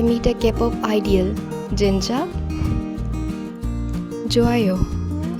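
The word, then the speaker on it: 좋아요: Joayo. Joayo, meaning that's good. Example, I passed my exam. Joayo.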